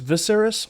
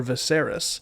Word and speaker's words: Viseris: the second person and the pronunciation of which is kind of inconsistent whether it's visceras or viserys is a whole thing though lamborghini visceras admittedly sounds more latin the public reception of